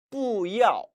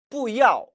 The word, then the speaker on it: 不要: 不要 원래는 要 사성이고 不도 사성이라 不要 라고 발음해야 정상이지만 不要 하면은 발음도 힘들고 또 상대방에게 오해를 미칠 수도 있죠.